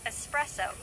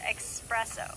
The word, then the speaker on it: espresso: goes for words like espresso which many pronounce it as expressive or sherbert with an